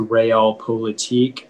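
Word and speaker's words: realpolitik: all the information please yeah so the only pronunciation is the real politique it's a noun and it comes from german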